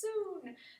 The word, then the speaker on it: Sun: stuff this is a soon style spelled sun pronounced soon style of tai chi